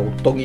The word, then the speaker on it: オットギ: っとぎ、これおっとぎって読むんですよね、おっとぎキムチラーメン。